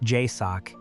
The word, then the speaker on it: JSOC: They are the most experienced men in the Joint Special Operations Command, JSOC, pronounced J Sock, and the math is telling them to leave.